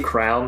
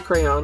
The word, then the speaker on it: crayon: thought you were gonna say crown for crayon. I think Shane calls it crown. It's a crayon.